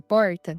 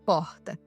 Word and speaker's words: porta: vai falar a palavra porta, a gente não consegue falar igual um carioca, por exemplo, que fala porta. Nós falamos porta, como se a nossa língua pesasse na hora de pronunciar o R.